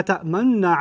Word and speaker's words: تأمنا: And then they say, La ta'manna ala Yusuf. This is I squeezed my lips as I said لا تأمنا like that because that's the pronunciation rule in Hafs.